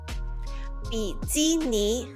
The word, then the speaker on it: 比基尼: 比基尼. 比基尼. It's also phonetically translated from English terms.